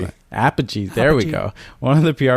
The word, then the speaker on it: Apogee: But one of the PR people from Apogee, how are we pronouncing it? Apogee.